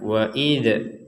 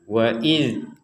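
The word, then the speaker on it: إذ: Jadi kita tidak boleh mengucapkan waid waid. Jadi tetap tidak ada pantulan sama sekali. Waid qola waid id. Nah tidak ada pentalan sama sekali. Waidz qabbuka lil malaikah.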